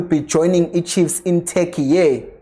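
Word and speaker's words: Türkiye: And also, Nabbi will be joining the Chiefs in Turkey. Yes, that's how you say it. It's not Turkey, it's Turkey for the preseason.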